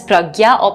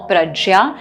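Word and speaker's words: prajñā: is sometimes pronounced as pragya praja depending on which part of the country you're from which part of india you're from and which pronunciation you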